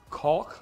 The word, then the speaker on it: caulk: I could use caulk around, you gotta really pronounce that L, caulk around the edges of everything.